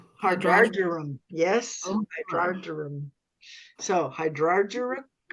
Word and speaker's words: hydrargyrum: How do you pronounce that? Hydrogerium? Hydrargyrum.